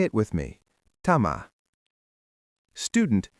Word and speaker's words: tämä: Tama.